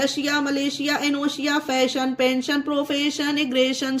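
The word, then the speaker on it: Malaysia: उसी तरह से ये देखिए मलेशिया, इसमें देखिए आई ए है एस के बाद, इसे भी मलेशिया मतलब शा का प्रोनाउंस किया गया है एस को।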